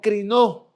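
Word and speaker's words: κρίνω: Y es una palabra que se va a pronunciar como crinó en el griego, que es el idioma en el que fue escrita esta palabra del Nuevo Testamento.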